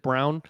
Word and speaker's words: Braun: He spells it Braun, but he pronounces it Brown.